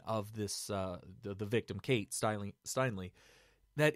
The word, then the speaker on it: Steinle: Steinem Steinle yeah Steinle I don't know why everybody's all sudden mispronouncing that everybody's calling it Steindl and all it's Steinle it's always been Steinle for the past year so that everybody's been talking about it it's Steinle right